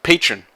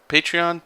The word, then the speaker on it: Patreon: oh what's it called patron believe that's what it's called patreon patron i always pronounce it wrong like it's a pokemon or something but anyway yeah so